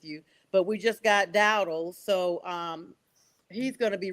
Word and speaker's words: Dowdle: I was thinking about, make sure I'm pronouncing this guy's name right. Yeah, Dowdle. Am I saying it right? Dowdle?